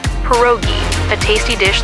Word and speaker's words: pierogi: It's pronounced pierogi, a tasty dish like dumplings.